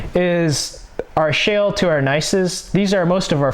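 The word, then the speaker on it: gneiss: our shale to our nices these are most of our foliated rocks so we have shale slate philite schist and nice and that's how they pronounce them and these are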